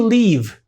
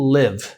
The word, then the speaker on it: live: Where do you leave? Tá errada a pronúncia, mas a gente vai entender e eles também vão entender. Mas você quis dizer where do you live?